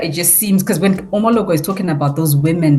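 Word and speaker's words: Omelogor: interesting actually was how, even though, was it Omologo? How do you pronounce the name? Omologo, exactly.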